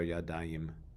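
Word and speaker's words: ידיים: In Hebrew, words that are indicative of a pair of something often end with the syllable ayim.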